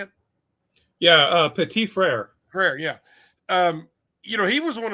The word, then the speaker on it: Frere: So I think that the value pick is his last name Frere. Is that how you say it? Yeah, Petit Frere.